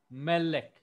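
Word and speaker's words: מֶלֶךְ: Melek. Melek. So this ole, remember the sign is called ole in Hebrew. Ole. So this ole falls on the next to the last syllable.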